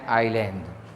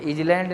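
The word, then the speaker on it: island: तो ठीक है, ऐसे एन आइलैंड, ये इजलैंड नहीं भैया, ध्यान दीजिएगा, एन आइलैंड, ये आइलैंड है, इजलैंड नहीं है।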